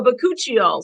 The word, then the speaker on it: bakuchiol: to say this word it was like you're supposed to like pretend like you're sneezing but cut you all anyways that's how i remembered how to say it awesome awesome product so bacocchio so that is um